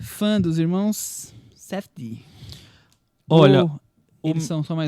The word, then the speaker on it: Safdie: Como é que é a pronúncia do nome? Safdie.